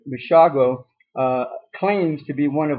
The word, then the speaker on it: Basiago: talking with Andrew, now Basiago, how do you say your last name, Andrew? It's pronounced Basiago, like Chicago, Andrew.